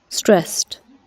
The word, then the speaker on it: stressed: we can listen again stressed stressed right or for pronunciation for this sounds just like the words best or next or wet and so s